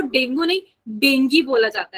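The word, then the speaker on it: dengue: ठीक है ठीक है जैसे कुछ शब्द अलग होता है उसको प्रोनाउंस अलग किया जाता है तो मेडिकल में ना डॉक्टर उसको देंगी बोलते हैं ठीक है बच्चा पार्टी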